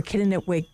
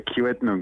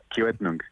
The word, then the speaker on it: Kiiwetinoong: Of course, NDP, MPP for Kitigan. I'm going to ask you to say it because I feel like I'm not saying it correctly. It's a Kiiwetinoong, which means north. Kiiwetinoong.